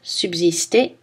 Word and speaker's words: subsister: Le S se prononce Z dans Alsace, subsister, et les mots avec le préfixe trans.